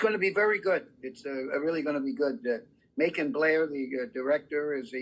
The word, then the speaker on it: Macon: thanks to Legendary and Macon Blair. Kevin Bacon is in it, and Bacon rhymes with the Macon.